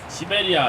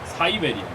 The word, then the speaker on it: Syberia: 시베리아 아니고 사이베리아. 스펠링이 달라요.